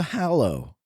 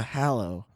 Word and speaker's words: Hallow: it well you know I'd say Harry Potter and the Deathly Hallows so I'll go with hallo cuz that is how it's built hmm it's from 2015